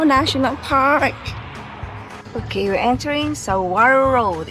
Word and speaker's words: Saguaro: They don't pronounce the G.